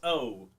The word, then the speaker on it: Chikumbutso: It sounded like you said chicken boots. That's kind of what it's spelled like. It's Chikumbutso. Chikumbutso, maybe.